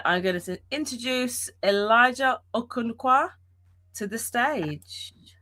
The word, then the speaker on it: Okonkwo: It's um pronounced a conc.